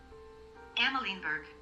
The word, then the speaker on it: Amalienburg: Amalienburg. Amalienburg. Amalienburg. There's an alien in there.